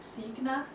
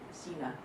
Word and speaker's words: Signa: Collective which is pronounced sna in Germany but it's the same as my first name which is pronounced Cena which is the Danish pronunciation means sign in Latin